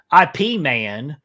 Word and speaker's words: Ip Man: would appreciate this pronunciation, IP Man versus Face Off, which, Chris, I'm letting you know, this is not a draft beer man. This is Ip Man, the Kung Fu master if I trained Bruce Lee.